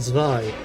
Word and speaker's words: Zwei: I think Zwei is actually pronounced Zwei in German.